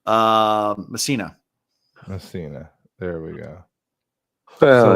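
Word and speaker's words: Mesaana: How do you pronounce her name? Um Msina.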